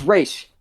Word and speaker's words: Ra's: it right oh yeah it's it's race okay and i i i feel like an elitist but i just that's just like the way it should be pronounced and whenever because when whenever michael caine says raja ghoul i'm like stop right